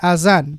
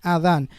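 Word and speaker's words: أذان: word Azan he said Azan but this is pronounced as Adan not Azan there is something called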